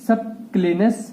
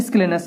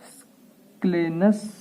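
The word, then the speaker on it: scalenus: सी है, ये है सबक्लेनस मसल। कौन सी है, सॉरी सबक्लेनस नहीं, ये है स्क्लेनस मसल। एक्चुअल में मैं कभी कभी प्रोनाउंसिएशन में बहुत गलती कर देता हूँ। स्क्लेनस मसल।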